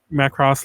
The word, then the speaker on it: Macross: It's funny because I do panels on Macross like at conventions, and everyone's always like, it's pronounced Macross, and I guess technically it is, but I'm gonna say Macross till the day I die.